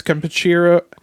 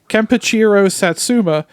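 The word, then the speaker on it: Kenpachiro Satsuma: actor who portrayed Godzilla as I said was kachir damn I it up after I did all that all all that well like pronouncing his name kachiro Satsuma uh he's also known for his performances as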